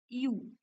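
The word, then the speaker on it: ewe: female शिपला काय बोलणार यु okay okay याचं प्रोनन्सिएशन होतं यई डब्ल इ म्हणजे त्याच फिमेल शिपला आपण यु असं बोलतो ओके आता शिपच जर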